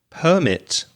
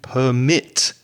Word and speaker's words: permit: it's the same word we're just shifting or changing the stress and that's permit for the noun and permit for the verb so the noun is